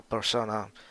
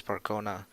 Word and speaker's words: Percona: go further ahead and do the Percona or persona however you want to call it persona easier to pronounce but the actual waves Percona right Percona extra DB cluster